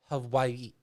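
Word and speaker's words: Hawaiʻi: spanish it's it's the the w is is with more of a v sound so it's who hawaii hawaii hawaii i know i'm not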